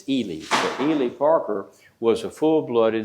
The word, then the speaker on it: Ely: Now, it's not Eli, he's E- L Y. He pronounces it Elely, like Robert Elie. And in talking with me when I met him back in Galina, Illinois in 50 60 rather, he said, "Well, if it was EI, it would be pronounced Eli, but my name is spelled E L Y. It's Elie."